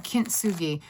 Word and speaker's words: Kintsugi: Kintsugi.